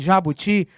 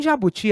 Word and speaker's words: jabuti: Em jabuti, a sílaba tônica é o ti. Ela é uma oxítona e ela não está acentuada.